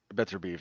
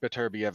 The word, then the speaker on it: Beterbiev: better be of his better beef excuse me i i i started now against now you're doing it i started pronouncing it wrong heard it pronounced correctly and i'm trying to correct myself now as i go